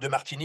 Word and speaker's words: Demartini: कि जब तक आप मेरे नाम का सही उच्चारण करेंगे तब तक आपको कोई समस्या होगी डेमार्टिनी या कुछ इसके करीब यह सब एक शब्द